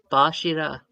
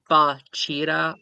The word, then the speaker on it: Bachira: Bachira is pronounced as Bashira. Oh, the host left. Bashida. Who gives a fuck? Bashira. You can pronounce it like Bachira or Bush with a like SH. It's just Bashida? sort of accent dependent.